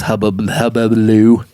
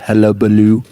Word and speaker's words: hullabaloo: And this is another reason why I don't necessarily believe in all this hubbaloo. How do you say that? Hubbaloo, hullabaloo.